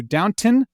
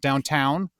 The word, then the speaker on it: Downton: Then we're jumping down to Downton, not downtown.